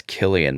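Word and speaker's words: Cillian: going to tell you, I think you're mispronouncing I'm like 90% sure you're mispronouncing the name of the lead actor. It's Killian Murphy with a budget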